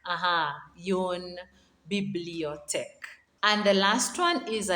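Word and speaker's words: une bibliothèque: same name as the library a book kiss yoon bibliotech aha yon bibliotech and the last one is a desk how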